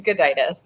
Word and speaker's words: Gudaitis: Please educate us on how to pronounce that. It is Gudaitis, yeah.